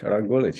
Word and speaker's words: Rok Gulič: Rok Gulič. Did I pronounce it correctly? That's pretty good. Rok Gulič, yes.